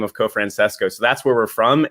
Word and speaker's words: Cofrancesco: But one interesting thing is, like, over there, they pronounce it Cofrancesco, but then when they came to the United States, they kind of dropped that, and it's just Cofrancesco now, because everyone always asks,